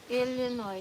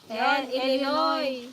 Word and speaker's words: Illinois: Illinois, silent Illinois. Silent S nga. Illinois. Illinois, silent S pa yan.